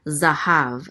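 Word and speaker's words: זָהָב: And a hey with a kamatz, which says ah, so this is ha. And then a vet closes out the syllable, so it says hav, zahav.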